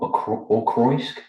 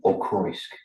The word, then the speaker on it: Auchroisk: And it's more Auchroisk than Auchroisk. It's less of the cr and more of a th sound. So it's more Auchroisk even.